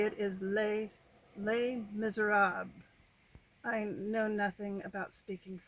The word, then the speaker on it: Les Misérables: I say Les Miserables because that's how you would pronounce it if you were speaking Spanish.